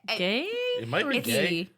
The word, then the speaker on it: Gey: I'm looking at Wikipedia, guys. Let me just click on it. Or it's not going to let me. Sometimes it gives you that little pronunciation. It's Guy. Yeah, Okay. it's Guy.